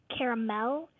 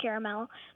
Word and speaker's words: caramel: from texas okay so dad pronounces it with three syllables and she pronounces it with two yes and you take